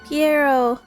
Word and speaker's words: Pierro: Pierre. I said, I said his name wrong. Pierro.